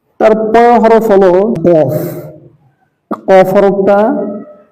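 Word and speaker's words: كاف: কফের সাথে অনেক সময় কাফের উচ্চারণটা মিলে যায়, মিলানো যাবে না। কফ হরফ একটু মোটা, কাফটা কাফ স্বাভাবিক কা। হ্যাঁ, কাফ কাফ।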